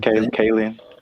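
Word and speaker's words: Kaling: know how to say her last name, Kayen.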